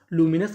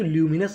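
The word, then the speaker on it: luminous: लूमिनस का मतलब होता है उज्जवल। अगर आप इसे चाहें तो ल्यूमिनस भी पढ़ सकते हैं, ये भी हमारा उच्चारण सही माना जाएगा।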